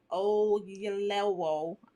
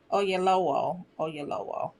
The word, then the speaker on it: Oyelowo: David Oyelowo, I just messed that up. He directs and stars in the new literary fantasy, The Waterman. Y'all here for it? do you pronounce his name, producer TJ? Oyelowo.